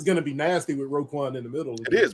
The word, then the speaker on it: Roquan: So we got Roquan. That's how you say it, Roquan Smith.